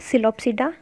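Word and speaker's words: Psilopsida: इसकी classification, pteridophyte को हम कैसे क्लासिफाई करेंगे, इसके चार ग्रुप्स हैं, सिलोप्सिडा, P silent सिलोप्सिडा, लाइकोप्सिडा, सिफेनोस्पिडा एंड टेरोप्सिडा, hair P is also silent.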